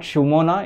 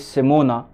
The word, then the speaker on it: Simona: Sorry, it's not Shumona. It is Simona.